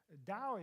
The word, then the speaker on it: Tao: in pronouncing Chinese words Dao is typically spelled with t yeah I spelled it here with a D in English typically it is spelled with a t but it is pronounced like a d does that make sense